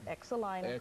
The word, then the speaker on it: Exelina: how to pronounce it it's exelina exelina my mother named me that that's the way it is and so you just remember to pronounce the X so if you're trying